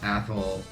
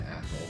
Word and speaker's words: Athol: classmates hey you know hold your tongue and say athl and you get people to say a bad word in class it was